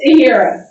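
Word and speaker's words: Taheria: Is it Tiara or Tiara? How you say it? It's Tiara. T-A-H-E-R-I-A.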